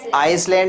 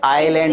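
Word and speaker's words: island: आइसलैंड नहीं होगा बेटा, ये आइलैंड होगा। हाँ, इसमें ये एस है, साइलेंट रहेगा और आइलैंड बोलेंगे।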